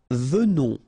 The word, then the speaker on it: venons: Nous venons. Okay, so final S not pronounced, and then remember that you pronounce this like a the, venons. Okay, O-N in your nose, on, venons.